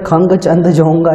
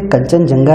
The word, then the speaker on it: कंचनजंगा: इसको कुछ टीचर खंग चंद जोंगा इस टाइप अजीब सा प्रनाउंस करते हैं लेकिन ये कंचनजंगा ही है।